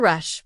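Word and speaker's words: ר: Letter Resh, pronounced like the English r as in run.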